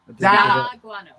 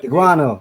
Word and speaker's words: D'Aguano: Da. Guano. Da guano. not The guano. Da. Da Guano. Da There Guano. it is. The Guano. Guano. 3 syllables. Like Da Luciano.